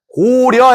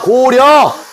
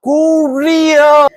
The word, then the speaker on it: 고려: 고리어가 아니고 고려 해봐. 고려. I got it. I'm sorry. Korea. 진짜 고려가 아니고 고려라니까. 고려. 아니 말귀를 못 알았네. 고려. 그러니까 발음 너무 어려워. 고리어.